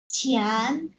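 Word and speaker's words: 前: হ্যাঁ ছিয়ান, এটা এটা কিন্তু তুমি চিয়ান বলতে পারবা না, এটা ছিয়ান মানে হচ্ছে বাংলা ছয়ের উচ্চারণ।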